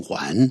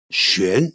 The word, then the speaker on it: 䴉: 有人把它念成圣环啊，这样子哈，应该是玄这样的念法才是对的哈。